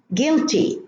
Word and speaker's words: guilty: Guilty, no U.